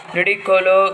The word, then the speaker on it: Ludicolo: I know it's pronounced Ludicolo.